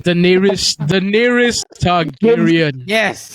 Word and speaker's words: Targaryen: How to pronounce her name? The nearest Targaryen. Yes, Daenerys. the Queen of Dragons. No. You gotta say it correctly. The nearest Targaryen.